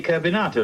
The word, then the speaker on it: carbonato: that gentleman's name is simply carbonato like potato you mean carbon like